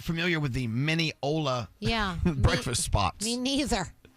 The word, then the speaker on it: Mineola: Katia is calling from Mineola, Oh. Oh, Mila. which rhymes with granola, which I could believe that's the answer to the question you're about to ask us.